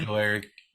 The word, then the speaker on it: Ojulari: And BJ Ojulari, how do you say his name? Ojulari. I don't want to. Ojulari, there you go.